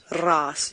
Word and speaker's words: raas: So raas. Can you say that word properly, Jean-Drake? Ras. You must roll your R when you say it.